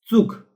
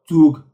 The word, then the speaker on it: Zug: Other uh Zug. Zug. Not zug. Zug. TS.